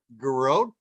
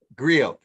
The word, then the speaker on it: griot: But she describes herself as a garrote, and am I saying it correctly? Garrote? You're muted. She said griot by bloodline and lineage.